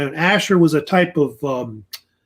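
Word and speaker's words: Ashur: I think that's what gives it the translation I guess of the name kind of means and it's usually pronounced with a sha sound not ass but asher it's how they usually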